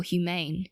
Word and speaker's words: humane: In this case, either human with stress on the first syllable or humane with stress on the second.